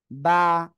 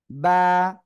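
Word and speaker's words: ب: এই যে দুই ঠোঁট, দুই ঠোঁট মিলিত অবস্থায় আপনার উচ্চারণ করতে হবে, হয়ে যাবে বা, বা, বা।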